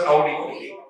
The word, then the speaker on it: Audi: You don't say Audi car. It is to be pronounced as Audi.